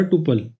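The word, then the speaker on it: tuple: ये होता है हमारा टुपल। अब टुपल को कोई लोग टपल भी प्रोनाउंस करते हैं, लेकिन कुछ लोग टुपल भी प्रोनाउंस करते हैं। आप जैसे चाहो आप वैसे प्रोनाउंस कर सकते हो।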